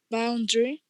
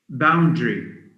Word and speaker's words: boundary: two syllables camera camera uh the word b o u n d a r y how would you pronounce it how would you say it thank again boundary yeah that's very good boundary because the air is silent so it's not